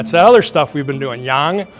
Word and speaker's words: Yang: That's how you pronounce it. Yang. That's that other stuff we've been doing. Yang. Y A N G.